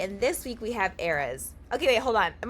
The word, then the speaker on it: Erez: No, if you would have said EREZ, it would have been wrong. You said it right. EREZ.